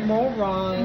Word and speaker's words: Morong: ban Morong lang How do you say it Morong Morong Yeah Morong ang hir no Morong Batan